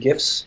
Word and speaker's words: GIF: we're big on animated gifts here it's a gift with a hard G ship we're very big